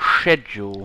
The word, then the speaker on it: schedule: Oh, is it, no, I think it's schedule. Schedule. Not schedule. Schedule. There is no K.